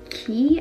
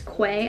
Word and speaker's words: Quay: Another pair that I have is from Key, I think is how you say it. It's an Australian brand. Maybe it's Quay, I don't know. I call it Quay, but some people call it Key, I have no idea.